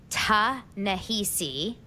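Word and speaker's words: Ta-Nehisi: Tahesi coats.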